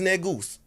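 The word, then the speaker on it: Negus: say any g-u-s which is negoose so they ain't got to bleep that you know mean keem when i say it's any g-u-s that's how we pronounce it but it's [ __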